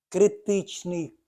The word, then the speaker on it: критичний: землі ще раз на Зверніть увагу на наголос критичний кут іоносфери - це максимальний кут